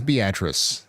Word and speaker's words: Beatrice: Oh, it is Beatrice.